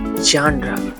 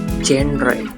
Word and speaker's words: genre: This is a French word. It's pronounced by genre, not genre.